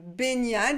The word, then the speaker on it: baignade: le sujet ils se sont lavés après leur baignade baignade prononciation ni omnium benian ça vient du verbe se baigner baigner le